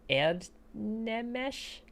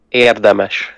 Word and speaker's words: érdemes: Why did you put an N in there? Erdnemes. I don't know. I wanted to put Sora. an N there. Yeah, don't put anything in there. That's No. the best thing in this language is that what you see is what you get. Yeah.